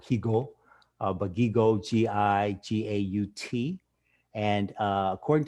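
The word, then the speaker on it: Jigó: known as Luis Gigo, spelled in Spanish oftentimes is J-I-G-O with an accent on the O, Higo, but Gigo, G-I-G-A-U-T.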